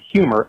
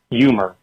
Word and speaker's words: humor: I hear Mike say words such as Houston and humor as Houston and humor. The HU sound is replaced with what I hear as a Y sound.